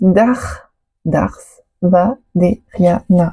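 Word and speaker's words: darthvaderiana: Alors, ça se prononce Dars Vaderiana.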